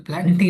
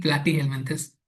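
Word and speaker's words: Platyhelminthes: Example प्लांटी नहीं, प्लाटी हेलमिंथस।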